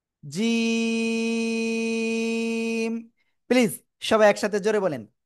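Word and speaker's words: جيم: জিহ্বার মধ্যখান দেখেন, আমার দিকে তাকানা, তার বারবার উপরে তালুর সঙ্গে লাগাবো, লাগিয়ে শক্ত করে 1 2 3 আলিফ টেনে পড়বো। জিম।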